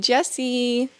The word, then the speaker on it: Jessie: And of course we have my bestie Jessie. Hi. If you've ever called me Jesse before. It rhymes with bestie kind of.